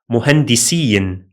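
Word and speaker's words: مهندسِين: For example, the word muhandisain, muhandisain means two engineers, while muhandisin means engineers in plural.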